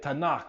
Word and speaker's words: Tanakh: cim which means writings you take the T the n and the K you put them together you get Tanakh it's an acronym refers